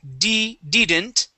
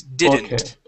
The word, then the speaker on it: didn't: Okay, instead of didn't, it is didn't.